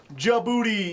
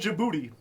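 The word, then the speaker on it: Djibouti: Palestine Fiji Australia Sudan jaboti yes there is a country called jaboti it's spelled with a D you know what the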